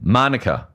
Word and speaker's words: Manuka: manah manah what did I say Manuka which is it named after the honey no cuz it's Manuka Honey manica is it manica honey nothing to do with the honey no it must be it's spelled exactly the same way look up Manuka honey so it is manuka Manuka Honey Monica oval